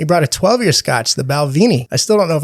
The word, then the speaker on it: Balvenie: brought Scotch he brought a 12-year Scotch the balvini I still don't know if I'm pronouncing it right oh you are you doing